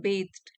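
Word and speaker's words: bathed: वी आर बेथ्ड, इसको pronounce करेंगे बेथ्ड, सो वी आर बेथ्ड passive में है कि हम तो स्नान कराए जाते हैं या डुबो दिए जाते हैं।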